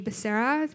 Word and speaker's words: Becerra: Tony Becerra is a producer, assistant director, producer of new media, and the show JOURNEYQUEST.